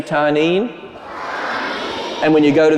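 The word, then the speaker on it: תנין: number of times it's a Hebrew word it's pronounced tarnin can you say tarnin and when you go to the Bible you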